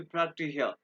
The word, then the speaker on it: praktischer: जब में इसको praktischer, आर को प्रोनाउंस नहीं करेंगे, praktischer, जब में ऐसे प्रोनाउंस करते हैं, ठीक है?